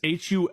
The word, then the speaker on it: Hulshult: It's Hulshult. Oh, Andrew. Olschultz? Hulshult. I only call him Andrew. I've never heard it pronounced.